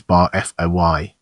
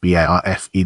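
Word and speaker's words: Barfée: It is Bar-F-O-Y, not B-A-R-F-E. There's an accent egg, he explains with some hostility.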